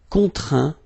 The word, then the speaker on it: contraint: Okay, and as usual, final T here is not pronounced, so you get craint, contraint, plaint.